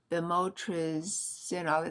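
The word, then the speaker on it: bemotrizinol: Beimotresol. It's spelled B E M O T R I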